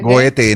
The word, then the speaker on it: Goethe: también a Goethe, creo que es Goethe, se pronuncia Goethe, ¿no?